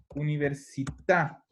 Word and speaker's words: università: las palabras del italiano, todas las palabras que Ujú. cargan el acento en la última sílaba llevan tilde. Por ejemplo, la palabra università.